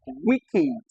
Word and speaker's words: wicked: The e d at the end of wicked is actually the short e sound.